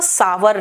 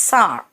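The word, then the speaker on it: sour: देखो सावर नहीं करना है। इट्स सार।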